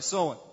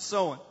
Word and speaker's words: Samhain: hang soin I'm sorry sewing now I know it's spelled like Samhain there but it's pronounced sewing and this is a